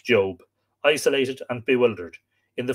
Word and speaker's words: Job: the book of job i pronounce that job some people pronounce it job for a world that